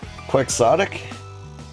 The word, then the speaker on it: quixotic: It's quixotic, apparently. What? The pronunciation you gave me is Kwuhk.